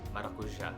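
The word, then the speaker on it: maracujá: So if you can notice the accent mark at the end, the acento agudo, accent marks in Portuguese denotes where to put the stress in the word, which syllable should be stressed.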